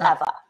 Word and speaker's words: Ewa: So my name is EWA, but the W is pronounced like a V. So it's Eva.